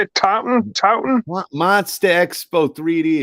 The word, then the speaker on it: Taunton: Taunton? Monster Expo 3D. It's in Taunton, Massachusetts.